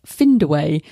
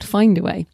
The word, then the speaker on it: Findaway: but as in in if it's pronouncing it finned not find then spell it in